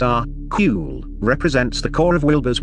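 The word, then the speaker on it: AQAL: at this next all quadrants all levels little pronounced are cool represents the core of Wilbur's work Buckle stands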